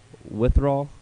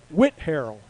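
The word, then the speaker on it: Whitharral: can't read your head withdrawal withdrawal like i'm suffering from withdrawal i would have said wither all but they want you to say whit harrell what went harold i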